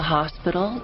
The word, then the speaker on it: hospital: you are in a car accident in the hospital you in a car accident 자 뭐라 그랬나요